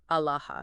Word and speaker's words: Aalah: Pronounced something like Aalah.